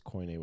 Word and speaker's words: Koine: It's Koine with a K. And they like to take hymns and put them into more modern settings. Is that the right way to say it? Right.